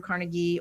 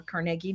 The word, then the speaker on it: Carnegie: both of the Carnegie Medal winners uh who just recently won the 2026 Andrew Carnegie or Carnegie depending on where you're from.